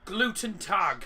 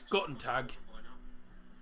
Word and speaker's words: Guten Tag: Gluten tag. It's Guten Tag. There's no L.